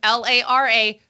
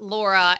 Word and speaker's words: Lara: yeah small issue with my name L A R A throws a lot of people off for those wondering it's Lara not Lara not Laura and my father-in-law I feel like every time he pronounces it he goes really hard on the a Lara because he wants to